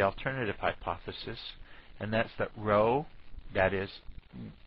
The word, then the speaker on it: rho: start with the alternative hypothesis and that's that row that is rho looks like a p but it's really the greek letter for r and it's spelt r h o but and pronounced rho even though it looks